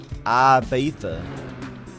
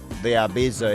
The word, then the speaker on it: Ibiza: How do you pronounce it? Ibiza.